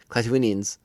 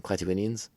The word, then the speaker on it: Klatooinians: the oh my gosh, the Klatooinians. I think I said it wrong. Klatooinians, excuse me.